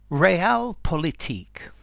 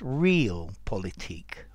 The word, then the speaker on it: realpolitik: real politique although I have heard this pronounced real politique as well okay this is an uncountable noun